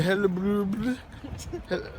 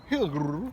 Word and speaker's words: Hillerød: It was about a 25-minute ride to Hellebrod. What? Hillerød. Hellebrod. Hellerød. How do you say it? Hillerød. Hellebrod. Is that how you say it? Hillerød. Hillerød. Yeah, that's pretty close.